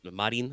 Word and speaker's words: Marin: Yes, it's Marin, as in the water. Hon. I was going more Spanish with it than French. Yes, but it is still. I mean, yeah, you could pronounce it however you like, but it's yes. Okay. There's no T.